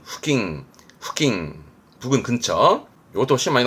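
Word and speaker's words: 付近: 발음은 후킹.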